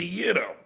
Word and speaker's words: gyro: Gyro. Gyro. Yeah, it's a yido. I never heard anyone pronounce I swear to god. Ask any Greek person it's a yeero.